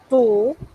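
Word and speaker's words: tu: como nosotros la pronunciamos hay que pronunciarla como si fuésemos a decir una y y con la boca mucho más cerrada y eso como suena suena y entonces si dijéramos tú dije que tendríamos que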